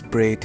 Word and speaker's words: braid: And after that, I'll be using this whole braid mesh, not bread, it's braid.